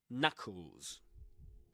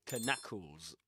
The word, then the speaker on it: knuckles: that word knuckles. You don't say knackles or something like that. You just say knuckles. The K there is I mean it's not even there. It's like it's not there. Pretend it's not there.